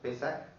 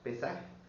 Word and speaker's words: Pesaj: La palabra Pascua viene del hebreo que se pronuncia pesaj, que es otra palabra para determinar lo mismo. Pesaj. P E s a j. Pesaj con acento en la e.